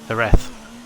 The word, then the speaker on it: Jerez: Jerez, how the bloody hell you pronounce it? Jerez.